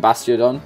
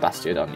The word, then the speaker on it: Bastiodon: Bastiodon. Yeah, that's how you say it. Bastiodon.